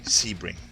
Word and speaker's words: Sebring: to entail Carnage it's a Sebring by the way Sebring is the prop pronounciation that it's a great